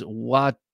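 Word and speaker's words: Watauga: Edgy American says in Alabama, it's Watagua. Oh, that's a good one. Watagua. I guess I could see that.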